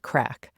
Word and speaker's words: craic: Ali is the author of a Compendium of Irish Pints, The Culture, Customs, and Craic.